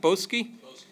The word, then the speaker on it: Boesky: reader note that in the Boesky is how pronounced boskie boskie manuscript this text these